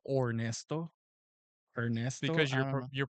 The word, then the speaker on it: Ernesto: yeah, so my Instagram is Ernesto Okay.